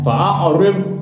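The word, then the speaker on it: فَأَعْرِضْ: Fa'a'rid, itu salah cara begitu. Jadi ditahan. Fa'a'rid anhum. Beda dengan dal, tabah atau to. Beda. Jadi to, dal itu memang huruf qalqalah. Kalau mati mental bacanya. Tapi kalau dot bukan huruf qalqalah. Jadi fa'a'rid anhum, ditahan. Jangan mental.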